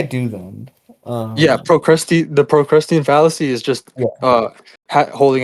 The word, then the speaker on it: Procrustean: mhm, Procrustean. Like that. That's also a really important point. mhm. How do you pronounce it or P spell it?